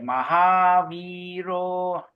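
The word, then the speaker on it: Mahāvīro: Stanza number 1, only Mahaviro. There's a long I there. Mahaviro.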